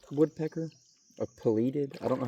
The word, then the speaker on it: pileated: That sounds like, I think it's pileated woodpecker, or pileated.